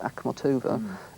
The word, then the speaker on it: Akhmatova: I mean, the Russian poet Anna, I think she's pronounced Akhmatova, said that fear to her was the most intense and passionate experience she'd ever had, more so than love.